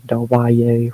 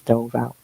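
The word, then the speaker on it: Del Valle: There's a yada do Valley or Delbay, however the they say, which is wrong. It's D Valley. say it how it's spelled.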